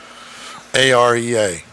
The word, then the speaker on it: Ariya: A R I Y A, that's Ariya. It's not the way it's spelled, but I made it that way.